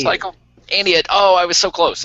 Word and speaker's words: Aeneid: It's the, I'm going to make sure I pronounce it right. The new Aeneid, is that right? I need it. Cycle. Aeneid.